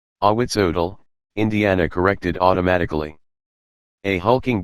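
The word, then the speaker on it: Ahuizotl: She say his name is, Awiasot. Awitzodal, Indiana corrected automatically.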